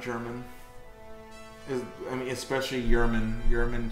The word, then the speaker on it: Yerman: Yerman, just because his name is spelled like German, it's pronounced Yerman, and he's also English.